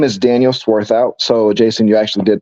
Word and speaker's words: Swarthout: are yeah absolutely uh my name is Daniel sworth out so Jason you actually did pronounce it correctly um so good job there